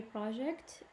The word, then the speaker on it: project: Okay, so here project, we stress the first syllable because it's a noun. Okay, but in sentence number 4, when you go to a job interview, you should project a sense of confidence. So here, the stress should be in the second syllable because, or the last syllable, because project here is a verb.